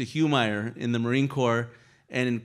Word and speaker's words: Humire: It comes from Peru, and it's pronounced Humire. But if you could get a sergeant major of the Marine Corps to say Humire, you're a better Marine than me. So it ended up turning into Humire in the Marine Corps,